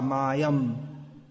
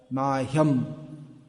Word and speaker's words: mahyam: The H has to be not Kada Mayam, Mahyam. The tendency in English is to drop the sound H, but it should be pronounced.